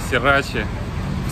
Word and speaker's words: Срирача: Такой вот, друзья, парк Сирачи. Сирачи. Местные говорят Сирач, где пишется Срирача.